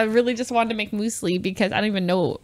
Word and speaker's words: muesli: just wanted to make muesli because i don't even know if that's right way pronounce it because it rhymes with because it rhymes with with foosley